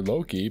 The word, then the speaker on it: Loki: getting our new boxer Loki pronounced like the Loki from the Marvel series his first shots my